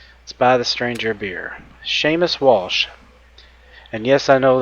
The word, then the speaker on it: Seamus: Seamus Walsh. And yes, I know that name. That's how it's pronounced.